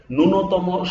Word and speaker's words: ন্যূনতম: আমি আপনাদেরকে উদাহরণ দিচ্ছি, দেখুন এই দেখেন ম্লান, এটার দেখেন লফলার উচ্চারণ হচ্ছে, কিন্তু দেখেন ন্যূনতম, স্বদেশ কিংবা স্মৃতি এই শব্দগুলোর দেখেন প্রথমে উচ্চারণ হচ্ছে না।